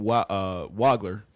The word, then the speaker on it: Wagler: At 5, they've got the Clippers taking Keaton Wagler.